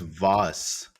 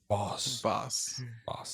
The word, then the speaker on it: Voss: pronounced Voss. Voss.